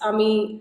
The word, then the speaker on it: Amy: And am I pronouncing your name correct? It's Amy.